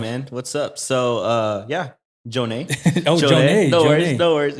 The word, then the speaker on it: Jonnè: So it's Jonne with an accent on the E. Okay. So it's like Jonnè. But yeah, I mean, so people call me Jonnè.